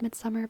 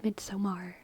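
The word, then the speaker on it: Midsommar: haven't seen Midsummer Midsummer I know it's pronounced Midsummer but I I see it and I see midar midar midar but I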